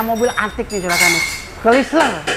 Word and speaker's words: Chrysler: Chrysler, bener nggak bacanya Jang? Chrysler ya, ya Chrysler.